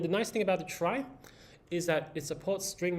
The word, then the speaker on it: trie: Um and just a fun fact about the origin of the word trie, so it comes from retrieval. All right, but it's pronounced as trie, not tree.